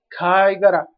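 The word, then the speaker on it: 貝殻: Tenemos Kaigara, que es, recordemos que este kanji solo se pronuncia Kai. Así que Kaigara. Este es Kai y este Gara.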